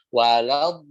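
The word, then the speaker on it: ولا الضالين: Lamnya jangan ikutan tebal, jangan walad. Nah, kemarin di kelas 2 itu ada yang wolo, diingat-ingatin tapi terus aja wolo terus ya, gitu ya. Jadi wala. Ya, tebalnya di huruf bod. Walad bod. Nah, ketemu lagi huruf bod yang 6 harokat, di situ ada mad lazim mustaqal kalimi yang mad bertemu dengan huruf yang bertasdid. Jadi waladdallin. Di situ ada tasdidnya ya.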